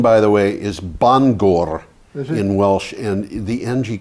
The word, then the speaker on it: Bangor: to be a single letter and it's always pronounced ng. Mm-hmm. But in this particular word, it's NG, nga, Bangor.